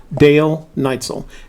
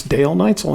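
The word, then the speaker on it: Dal Neitzel: we've had this conversation before his name is pronounced dale neitzel and if you don't believe me go back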